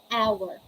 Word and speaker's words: hour: your vocal cords so let's say hour ah hour honest off honest honor oh